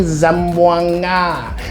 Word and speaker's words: Zamboanga: It's actually Zamboanga.